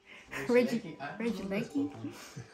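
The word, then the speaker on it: Regieleki: Regilicky.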